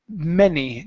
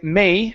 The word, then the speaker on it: many: is okay the word many now here instead of saying May many okay we're going to pronounce a short e sound e me many many